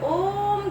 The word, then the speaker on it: ओम: अब अगर ओम को अगर हम संधि विच्छेद करते हैं, उसमें 3 अक्षर पाए जाते हैं, 2 स्वर वर्ण और 1 व्यंजन वर्ण। स्वर वर्ण में आ और उ, व्यंजन वर्ण में म अक्षर। अ और उ का उच्चारण स्थल कंठ है और म का उच्चारण स्थल होठ है। ठीक है, तो अ जमा उ जमा म इक्वल टू ओम ध्वनि उच्चारण होते हैं, जिसे ब्रह्मनाद कहता है।